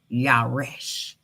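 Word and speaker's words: ירש: How you pronounce it. Yaresh.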